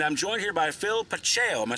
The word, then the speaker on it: Pacheco: And I'm joined here by Phil Pacheco.